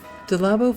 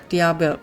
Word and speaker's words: Diablo: I think I'm pronouncing that wrong. Dab. Diablo. Diablo. I was trying to put an extra L in there.